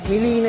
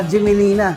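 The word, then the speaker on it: Gmelina: makikita niyo tangile melina ang pronunciation ng gemelina is ano melina yan ah baka meron kayong marinig na gemelina kino-correct ko lang milina tawag diyan in local woods na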